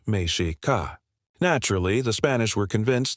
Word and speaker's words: Mexica: The indigenous name for the Aztecs pronounced Mishi Ka.